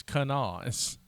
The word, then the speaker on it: Kanawha: And I'm like, this poor Australian girl, you need to at least listen to say how the locals say Kanawha. Like, no. Right, it's Kanawha. It looks like Kanawha because it's an Indian word, but you know how white people are.